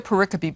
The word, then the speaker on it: pericope: What I tell my students is think of periscope without the S, because that's how pericope is spelled.